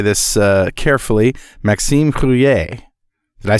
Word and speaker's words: Maxime Rouiller: All right, and that brings us to our guest, and let me say this carefully, Maxime Rouiller.